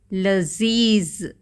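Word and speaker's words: लज़ीज़: ज लजीज। ओके। अगर नुक्ता नहीं है तो ज, और अगर नुक्ता लगा हुआ है, बिंदी है तो ज। ठीक है, लजीज।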